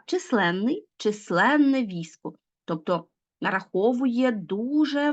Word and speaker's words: численний: Ну уже ви думаю звернули увагу що всі ці суфікси наголошені височенний здоровенний численний нездійсненний несказанний незліченний звернули увагу да от запишіть собі обов'язково і поставте наголос це все такі суфікси